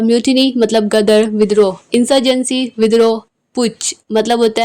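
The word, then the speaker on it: putsch: जेंसी या फिर पुज इसमें एस साइलेंट है पुछ या फिर ट्रिजन सेडिशन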